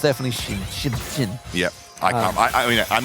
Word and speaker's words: Xin: It's definitely Shin. Yeah, I mean, I'm not faulting your pronunciation.